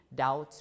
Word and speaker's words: doubt: debt without the B doubt without the B and subtle without the